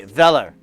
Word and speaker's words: Weller: oh you've got a weller iron nice excuse me velar i learned they are a german company and they are pronounced vela which is pretty cool